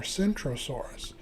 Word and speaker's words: Centrosaurus: However, not only are the names Krosaurus, Centasaurus spelled differently, they pronounced differently with Krosaurus having a kicking K. While Centaurus has a soft C pronounced more like an S.